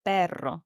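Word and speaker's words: perro: Notice how I roll the now. The pronunciation can take you time to master because it's a very strong sound.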